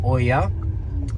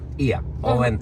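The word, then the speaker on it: Oia: For me, it's Ia. Yeah. But we call it also Oya for you. Not only for you, for all of you. But we pronounced it Ia.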